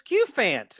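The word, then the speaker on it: Cufant: font cue font coupon it's q fant it's cute because like elephant so it's cute which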